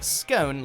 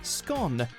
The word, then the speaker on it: scone: the Republic of Ireland, you'll also hear scone like tone. And then some butter that's been rubbed in. Why do you mix the two flours? I just think it gives a bit of a lighter scone. I really, really do. But Northern Ireland, Northern England, Wales and Scotland all usually use the shorter scone.